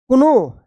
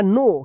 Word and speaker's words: know: अब बताइए इसको क्या पढ़ेंगे, कुनो या नो, क्या पढ़ेंगे, इसको पढ़ेंगे नो, क्योंकि यहां पे के जो है ना साइलेंट रहेगा, ठीक है ना, तो नो पढ़ेंगे, KNOW, नो दैट एन